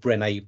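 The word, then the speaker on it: Brené: an American woman called brene Brown and there's bre any apostrophe with a cute accent on the last day brene Brown and she did a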